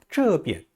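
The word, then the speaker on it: 这边: 이때 비엔자는 약하게 경성으로 발음해요. 비엔자가 원래는 제1성인데요. 지시사라든지 방향을 나타내는 낱말 뒤에 오는 비엔자는 약하게 경성으로 발음합니다. 여기, 이쪽 할 때요. 这边, 저쪽, 那边, 어느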